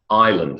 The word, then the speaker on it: island: Island, silent S.